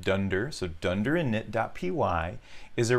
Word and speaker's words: dunder: Now again, that double underscore is pronounced dunder, so dunder init.py is a required element when you work with packages inside of Python.